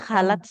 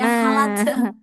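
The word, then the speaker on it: خلت: Sama huruf K enggak boleh jadi ha ya. Tidak qod khalat. Iya khalat. Saya ha gitu bacanya. Halat.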